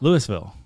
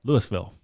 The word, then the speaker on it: Louisville: Louisville. Louisville. No. Lewisville. No. L. We've lived down here long enough. We know how to say it. Lewisville.